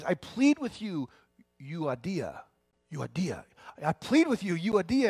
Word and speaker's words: Euodia: and it says this one lady's name is Euodia, there it is, Euodia, and Suntuke.